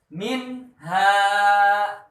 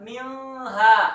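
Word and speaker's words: مِنْهَا: cara membacanya jelas contoh minha minha Jangan dibaca milha salah ya atau di-backup dibaca miha Salah yang betul dibaca mirip h-nya kompas ini lihat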